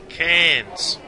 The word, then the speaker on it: Cairns: Mate, did you hear the way that I said that? Cairns. Now that you know how to say it, you'll have to visit it.